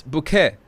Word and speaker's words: Bucket: the real highest and Hyacinth Bucket it's bouquet all right all right